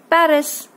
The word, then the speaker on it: Paris: I live in Paris. Now this is pronounced Paris.